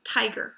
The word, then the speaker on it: tiger: If we know tiger, that open syllable has the accent, right? We don't say tiger, we say tiger. So we have an open syllable with an accent, tiger, and we know it's a long vowel.